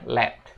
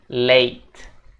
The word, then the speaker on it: late: perhatikan di kata late banyak orang yang pronounce kata ini dengan penyebutan let tapi untuk lebih detailnya kita bisa bilang late late jadi a gitu guys late bukan l tapi late Oke lanjut What do